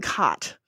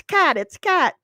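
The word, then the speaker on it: Katt: Is it William Catt or William Cott? Because I called him William Cott on my video about the greatest American hero, and I got comments being like, it's Cat.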